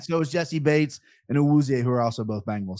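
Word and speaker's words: Awuzie: I did have the pronunciation BP ready to go. Uwuzie.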